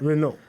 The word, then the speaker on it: Renault: The Renault. T is silent. Renault.